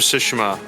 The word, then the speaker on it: Tsushima: I know it really Tsushima is the way to name. It pronounce just sounds so funny to me when people say it.